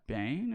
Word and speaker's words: Cad Bane: Bane, is how you say his name?